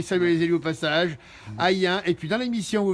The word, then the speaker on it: Ayn: Hayen, ça s'écrit A-Y-N, et dans l'émission vous verrez Roger, qui est ancien maire adjoint.